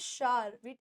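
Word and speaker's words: shower: हूं Sahana take bath या शार या ववर बोलते हैं ववर ववर गलत हो जाएगा हम लेते हैं शार टेक बा तैयार होना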